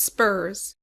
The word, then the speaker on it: SPRS: The supplier performance risk system SPS pronounced spurs is the authoritative source